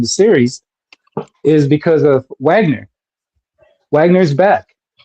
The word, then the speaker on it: Wagner: series is because of Wagner Wagner is back. That's really nothing to Pablo. It's pronounced Vagner.